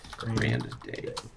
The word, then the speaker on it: Grande: not grande grande is how actually how it's pronounced r a n d a y Grande I gotta write that down anounced Grand day uh have been complaining about some items like